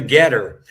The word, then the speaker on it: GETTR: my messaging can be the most effective on Getter. So if anyone is on Getter, that's spelled GETTR, and it'll be at John Good